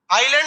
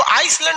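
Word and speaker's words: island: आइलैंड में ना S silent रहता है। इसको आइसलैंड नहीं पढ़िएगा, आइलैंड। आइसलैंड तो इस तरह लिखाएगा, आइस लिख के लैंड।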